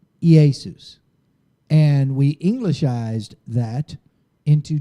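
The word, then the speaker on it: Ἰησοῦς: have Yeshua and Hebrew e Asus in Greek that's the way it's pronounced in Greek e Asus and we englishized that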